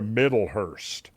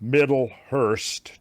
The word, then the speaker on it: Middlehurst: Barbara Middhhurst maybe she has a book. Why don't you, if you don't mind, Barbara Middlehurst, just like it sounds.